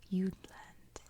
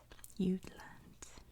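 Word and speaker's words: Jutland: now you'll always remember its name it is pronounced you'd land you'd land you'd land but you can see the jut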